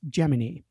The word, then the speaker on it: Gemini: of the word gemin every sensible person pronounces a Gemini but Gus GM the astronaut architect of the program insisted in a book he wrote just before he died in the Apollo one fire that the word is pronounced geminy now I'm not one